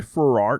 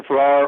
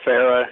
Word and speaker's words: Farrar: us now is Ferrar did I get your your last the pronunciation of your last name right I answered a Farrar or Farah is actually how I would say it okay fair sorry about